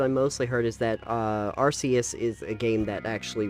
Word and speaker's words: Arceus: Yeah, the comments that I mostly heard is that Arceus is a game that actually respects your damn time.